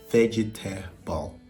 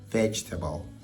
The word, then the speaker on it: vegetable: vegetable vegetable vegetable vegetable now we only say three syllables and I know the word actually has four so you you don't want to say vegetable it's vegetable vegetable and if this is